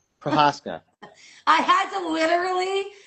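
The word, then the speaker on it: Procházka: Do you know how his last name is pronounced? No. Prohaska. Prohaska.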